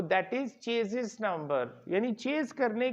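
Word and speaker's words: chassis: जाती है, उसको हमारे चेसी नंबर बोला जाता है, जबकि उसकी एग्जैक्ट प्रोनाउंसिएशन है चेजिस नंबर।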